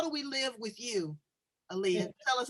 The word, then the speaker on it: Elea: l y forward slash talk with aaliyah and that's spelled e-l-e-a well i'm so glad